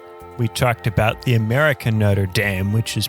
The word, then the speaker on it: Notre Dame: about Notre Dame we talked about the American Notre Dame which is pronounced like a football player's running the show